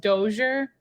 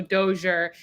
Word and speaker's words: Dozier: this is my video my last name is pronounced dozier so dozier and then my first